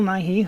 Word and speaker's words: Nighy: that you got Bill Nighy who people love and I guess in England they pronounce it Bill Nye but that gets confusing with America and then Halston Butler